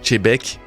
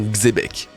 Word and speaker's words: Xebec: commentaires avec ça, oui, je nomme Chebek et non Xebec. Plus j'en parle, plus on me fait la remarque que je le prononce pas de la bonne façon.